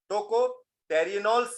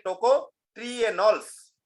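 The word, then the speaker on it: tocotrienols: टोकोफेरोल्स के साथ साथ टोकोटेरिनोल्स भी है। इसको आप ऐसे भी उच्चारण कर सकते हैं, टोकोट्रिएनोल्स, टोकोट्रिएनोल्स क्या बोल सकते हैं आप, टोकोट्रिनोल्स भी बोलते हैं कुछ लोग, टोकोट्रिनोल्स क्या बोलेंगे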